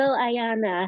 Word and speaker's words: Ayanna: Oh, It's Ayanna, Ayanna.